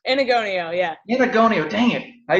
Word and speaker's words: Enagonio: God, I hope I pronounced his last name correctly. K Enagonio, is that correct? Enagonio, yeah.